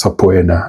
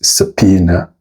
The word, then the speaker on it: subpoena: Now this word shouldn't be said as sapoena. Regardless of the spelling, the correct pronunciation is subpoena.